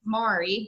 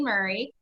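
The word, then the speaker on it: Maury: I know it looks like it should be pronounced Mari but it is actually Murray and we are located about 45 minutes south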